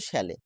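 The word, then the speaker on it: Szalay: Option D David শ্যালে এই উচ্চারণটা শ্যালে David শ্যালে 2025 এ Booker প্রাইজের জন্য সম্মানিত হয়েছেন এটা কারেন্ট এফেয়ারসের মধ্যে আসে।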